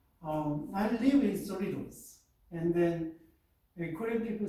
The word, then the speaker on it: Cerritos: Like, I live in Cerritos, and then the Korean people said not Cerritos,